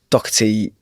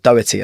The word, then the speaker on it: Doherty: Erin Doherty, or Doherty, I think she pronounces it as, is just an absolutely